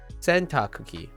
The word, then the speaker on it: 洗濯機: Cookie is very close. And having the double K's back to back is not too bad. Obviously, it's double K sound, but cookie is spelled with a C, right? C-O-O-K-I-E. So if you think of cookie, sentakuki, right? Sentakuki. It's actually probably rolls off pretty well for an English speaker.